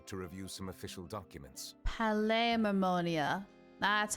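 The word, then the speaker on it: Palais Mermonia: the P mamonia to review some official documents P mamonia that's how you say it Kiara you should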